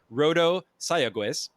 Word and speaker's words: Rodo Sayagues: breathe Fame alongside longtime co-writer here we go rodo sayagues there we go a little bit better I